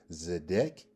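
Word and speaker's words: צֶדֶק: Is it number 1, a masculine noun pronounced zedek?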